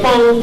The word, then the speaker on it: Fon: And Mawu is a term that we get from the Fon people, F-O-N, of ancient Dahomey, the Republic of Benin now.